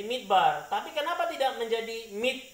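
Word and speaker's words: מִדְבָּר: Kita juga tidak baca ini midfar ya. Kenapa tidak baca midfar? Karena ada titik di tengah ini ya. Jadi menjadi midbar.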